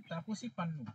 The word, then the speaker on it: তাপসী পান্নু: হ্যাঁ, তাপসী পান্নু।